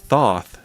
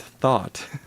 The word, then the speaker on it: Thoth: Uh it's Thoth, not Thought.